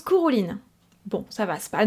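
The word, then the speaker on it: Cúchulainn: Et bien son nom se prononce Cuchulainn.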